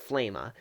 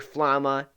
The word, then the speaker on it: Flama: It's sort of pronounced two different ways depending on which way you read it, but I like to pronounce it Flama.